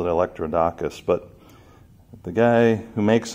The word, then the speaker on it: Electrodacus: I mean it's pronounced electro daesh's kind of like electro bodacious I don't know I